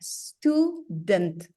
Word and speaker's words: student: student not uh student you pronounce the T at the end stent student student St stent stent